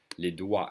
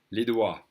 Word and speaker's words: doigts: Les doigts, and the G and the T and the S are silent. Half the word is silent. Les doigts.